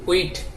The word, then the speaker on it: wheat: এরপর আরেকটা দিতে পারেন উইট, WHEAT, উইট। উইট শব্দের অর্থ হচ্ছে গম, এসটা অনুচ্চারিত, এটা উচ্চারণ হবে না।